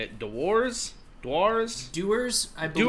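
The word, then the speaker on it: Dewar's: Dewars, I believe. Dewars.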